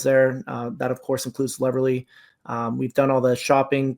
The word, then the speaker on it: Leverly: Did I say it right? You did, like Beverly. Leverly.